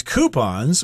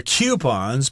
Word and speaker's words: coupon: So they might offer discounts, or you can use coupons or coupons. People pronounce it both ways.